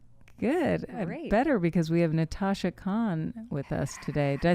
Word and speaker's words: Natasha Khan: Natasha Khan.